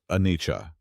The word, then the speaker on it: anicca: In Pali, this truth is called anicca, pronounced anicca.